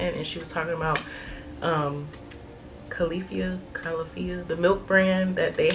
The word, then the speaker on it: Califia: So this is the Califia, please forgive me if I'm saying this wrong, Califia Farms matcha almond latte. Oh, that's so that's funny, they tell you how to say it on the back. Califia Farms.